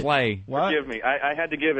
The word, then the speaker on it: Bublé: That's not his name. You're not saying it right. If you're going to talk about Michael Bublé, you got to talk. You got to say it right. Bublé.